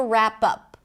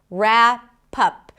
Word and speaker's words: wrap up: Speaking of presents, we have to wrap up. Wrap up. Here as well, we start with an R. The W is not pronounced.